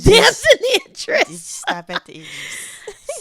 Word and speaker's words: Damson Idris: It's Damson Idris.